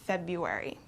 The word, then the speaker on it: February: we don't say february this r kind of goes away and we pronounce it february okay vegetable vegetable a